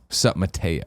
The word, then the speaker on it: SupMatto: for its protect its it's pronounced Mateo sup Mateo Mateo oh wait hold on